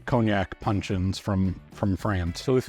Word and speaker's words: cognac: I believe it's pronounced cognac. It's cognac.